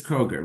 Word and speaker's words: Kroeger: I'm very flattered that she's here, Jamie Kroeger. Am I saying it right? It's Kroeger, right? Yep.